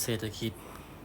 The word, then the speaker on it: เศรษฐกิจ: เศรษฐกิจ ของ ครอบครัว อ่า เศรษฐกิจ อ่าน ว่า เศรษฐกิจ นะ ครับ หรือ อาชีพ